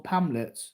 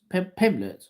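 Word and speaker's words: Pimblett: Is it Pimlet or Pamlet? Pimlet.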